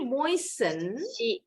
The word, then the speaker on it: moisten: Nah, she moistened, bacanya moisten, T-nya silent. She moistened her lips with her lip gloss atau lip balm.